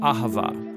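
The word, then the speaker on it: אהבה: languages as it is in ancient hebrew it's pronounced ahava it most basically refers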